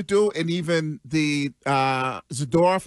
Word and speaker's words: Zadorov: and even the uh zidor is that's how you say his name yes they continue to